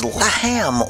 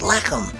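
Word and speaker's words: לחם: And the second part of that is Lahem, or sometimes in Hebrew pronounced Lechem.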